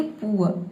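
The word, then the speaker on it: poor: पी का प हो जाएगा और डबल ओ का हो जाएगा उअ। और इसके बाद जो आर आ रहा है यहां पे हम आधा र पढ़ेंगे या फिर आप चाहे तो साइलेंट रख सकते हैं। क्यों? क्योंकि आर से पहले देखिए यहां पे ओ वोवेल आया है। ठीक है? तो इसे हम बोलेंगे पुअर।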